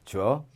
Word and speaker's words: 浊: 탁자, 받침, 기억, 빠짐, 타만 남습니다. 이렇게 돼 있어요. 주어 해봐. 주어. 탁주어. 해보면 탁주어. 대개 탁자는 주어 발음으로 많이 돼요.